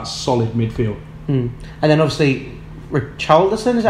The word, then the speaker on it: Richarlison: And then obviously Richarlison, is that how you say it? Yes, Richarlison.